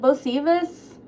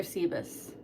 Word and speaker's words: Sebas: Hi, how do you say your name? Sebas? Sebas. Sebas. Like Bosebas? Bosebas. Just regular Sebas.